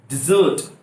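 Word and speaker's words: dessert: डिजर्ट, रेगिस्तान को कहा था डेजर्ट, डेजर्ट। और जो आप डिनर करने के बाद मीठा खाते हैं उसको कहा था डिजर्ट। स्पेलिंग भी अलग है, तो स्पेलिंग को भी चेक कर लीजिएगा।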